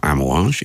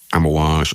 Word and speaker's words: Amouage: If you want to find out more about Ammoage, and why wouldn't you? You can find them on Instagram @amoage official. That's ammoage is spelled a m o a ge official.